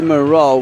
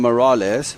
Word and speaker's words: Morel: Alexi Morel with the fourth goal. I must apologize. I was calling him Morales, but Morel. Alexi Morel is the correct pronunciation.